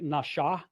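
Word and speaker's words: נשא: When it's over the right side, it's pronounced more like nasha. It's pronounced with a shh sound. When the dot is over the left, it's with a s sound.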